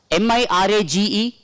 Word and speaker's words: mirage: So this should be pronounced as garage. M-I-R-A-G-E.